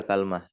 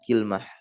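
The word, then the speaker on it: كلمة: di sini Kal kalmah bisa dibaca kalmah bisa dibaca kalmatun dan yang kedua bikasril Kaf dengan di kasasroh Kaf ya Jadi Ki wasukunil lam nah lamnya di sukun ala wazni sidroh berarti Bagaimana cara membacanya kilmah kilmatun wahuma dan ternyata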